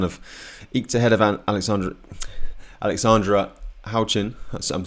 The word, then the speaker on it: Houchin: So Sasha Dahl has kind of eked ahead of Alexandra Houchin.